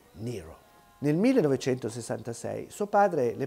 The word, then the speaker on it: Nyro: quindi lo modifica leggermente toglie la g mette una ypsilon al posto della iii e per tutti diventa allora nero nel 1966 suo padre